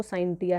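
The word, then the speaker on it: scientia: तो ये एक लैटिन वर्ब है और इस ये जो लैटिन में है इसका जो प्रोनाउंसिएशन है वो साइंटिया है।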